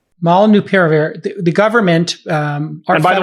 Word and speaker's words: Molnupiravir: Pronounce the name of it. It's Molnupiravir. Molnupiravir.